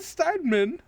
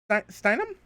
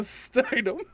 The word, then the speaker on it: Steinem: or just the name gloria steinman or uh steinem steinem i think i'm saying i've been saying it wrong um and that's it